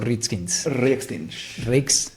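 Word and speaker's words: Riekstiņš: Hay dos letras que no puedes teclear pronunciar. Aquí. Ritskins. Ah, porque es si la letra con una otro... ñ y ese con un techito volteado. ¿Es del Cyrillic? No, es de idioma báltica.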